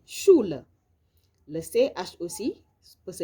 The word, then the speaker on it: Schule: Le SCH aussi se lit comme un Ch, comme dans die Schule.